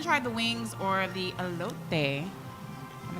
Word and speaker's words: elote: And the fries are We haven't tried the wings or the elote. Am I saying it right? Elote.